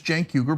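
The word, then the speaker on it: Cenk: came to the country my name is janker but it's the C is spelled with the uh I'm sorry the Jank is spelled with a c right so it looks like sank weiger or something like that and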